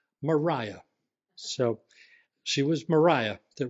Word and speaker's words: Maria: by her middle name which looks like Maria but is she wanted it pronounced Mariah so she was marah